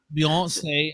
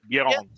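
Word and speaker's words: Beyoncé: Beyonce. Beyonce. That's how you pronounce it. See the French Beyonce? That's how you pronounce it, all right? Just because, everyone's been butchering her name for years. It's Beyonce.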